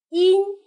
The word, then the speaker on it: 音: 音，韵母是前鼻韵母音，音，树音。